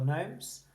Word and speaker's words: gnomes: You should have remembered that GN spelling of for gnomes. N-O-M-S. N-O-M-S.